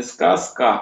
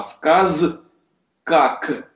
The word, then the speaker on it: сказка: Поэтому правильно произносить не сказка, а сказ как.